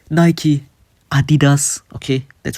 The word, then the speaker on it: Adidas: Okay, you have companies like Nike, Adidas, okay, that's how it's pronounced that are called classic that will never leave.